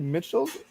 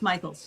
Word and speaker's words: Mitchell: I just wanted to get it's Mitchell. Well, it's pronounced Michaels. Yeah, Michaels. Okay. It's sort of spelled in between Mitchells and Michaels, but yeah.